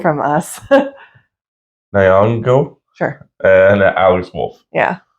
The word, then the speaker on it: Nyong'o: Nyong'o. From Us. Nyong'o.